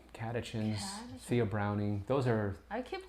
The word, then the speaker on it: catechins: Catechins. I was terrified to say that, but I think I said it right. Catechins, theobromine.